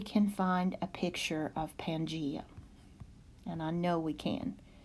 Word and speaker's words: Pangaea: okay the next term is Pangaea and that's pronounced to pan G Pangaea Pangaea was the last supercontinent on earth and